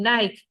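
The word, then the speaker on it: Νίκη: En inglés no existe lo pronuncian a la anglosajona Nike, pero de Nike nada, es Nike.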